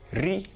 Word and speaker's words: R: Ri. Are you getting it? Ri. The letter R in English is pronounced Ri in Yoruba.